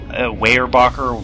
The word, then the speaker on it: Weyerbacher: Weyerbacher, Weyerbacher, Weyerbacher. I'm going to say Weyerbacher because it's kind of the closest to Pennsylvania German Dutch without, you know, sounding like a jackass.